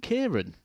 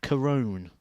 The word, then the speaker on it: Kieran: was talking about how everyone over in the UK or in England all call him Kieran. And, well, that's your name, isn't it? I've always called him Kieran. And he says, no, actually, it's something like Corone is how it's pronounced.